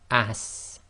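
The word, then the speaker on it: س: And this will give the sound of ass. Now this will be the same as in astronaut. Ass.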